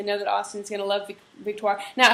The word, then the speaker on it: Victoire: that Austin's gonna love Victoria now how do you say I I say Victor is that the right way to say it that's right yeah okay yeah yeah people